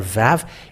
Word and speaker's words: vav: the Aramean word that the letter Vav, it is pronounced V. And it is clear with that the Holy Scriptures say that Aramean has pronounced the word Vav, V-A-V, and it doesn't change to U.